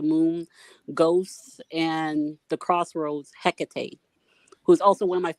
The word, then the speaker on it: Hecate: for that reason too i mean you're even pronouncing it correctly so that's cool you know hecate not everybody does what else can you tell